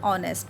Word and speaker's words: honest: It means H is silent here.